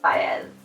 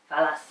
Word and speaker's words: Falles: J: Like "falles" has two L's in it but you say it with a 'y.' J: Falles. C: "Fal-ass."